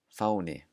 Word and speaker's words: fáni: The first rule is at the beginning of words, it will always sound like the English F. So here are three examples. Fyrir, fyrir, Frakkland, Frakkland, fáni, fáni.